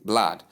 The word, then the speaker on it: blood: It's simply blood. This is the silent O sound. Note it when you're pronouncing the word blood.